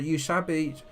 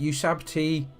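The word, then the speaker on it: Ushabti: It's a Usabi, oh dear, I've mispronounced it. Usabti with great bows.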